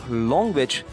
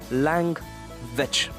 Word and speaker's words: language: So it is not longwich, but it is langwich.